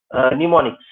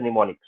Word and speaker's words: mnemonics: For example, if I'm saying ADD becomes the mnemonics. Okay, mnemonics. So ADD, SUB, what move. So all these instructions are called as mnemonics. Mnemonics, MNEUNOMIC, mnemonics. Okay, M is silent, capital M is silent in this.